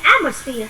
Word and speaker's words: atmosphere: The atmosphere. Atmosphere chọn số 1.